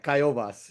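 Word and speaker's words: Kaiowas: Kaiovas.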